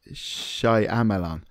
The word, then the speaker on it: Shyamalan: is his name alone M Night Shyamalan yeah and those are the syllables you're aiming at they do get pronounced pronounced slightly differently um but shamaman well